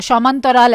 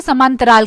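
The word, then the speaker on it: সমান্তরাল: तो एक बंगाली फिल्म है, उससे बंगाल में उसे मतलब बंगाली में शमांतराल ऐसे प्रोनाउंस करेंगे, आप उसे यूट्यूब पे देख सकते हैं, अगर उसे नॉर्मल कहे तो उसे समांतराल कहेंगे।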